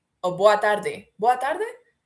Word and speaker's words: boa tarde: Oh, boa tarde. Boa tarde? The D is pronounced different.